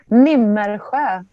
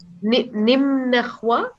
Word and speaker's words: Nimmersjö: Oh, Nimmersjö. It's difficult. It's a really Swedish one. How do you say it? Sorry? Nimmersjö. Did you hear it? Nimmersjö?